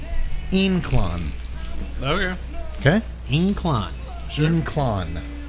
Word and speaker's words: Ynclan: stuff the Lafleur day in clong lancero especially all by Villiger cigars it's pronounced in Quon okay okay incline gin